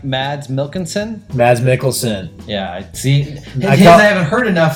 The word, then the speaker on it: Mads Mikkelsen: Mads Mikkelsen. Yeah, I haven't heard enough, so I say it wrong. Mad Mick. Yeah, Mad Mikkelsen.